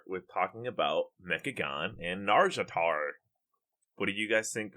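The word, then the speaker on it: Nazjatar: Let me start off by saying I don't know if I'll ever be able to pronounce this Naga region correctly. Is it Narjatar? Is that right? For Narjatar. There's a Narjatar that always says it. Just think about her. There's an S snuck in there somewhere.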